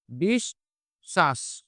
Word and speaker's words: বিশ্বাস: করবো আমরা হচ্ছে দুইবার তাহলে উচ্চারণটা হবে হচ্ছে বিষ শ্বাস বিষ শ্বাস অর্থাৎ এই তালব্য স এর সাথে বটা দুইবার আছে আমরা বটাকে কয়বার উচ্চারণ করেছি দুইবার যদি আমরা দেখি কোন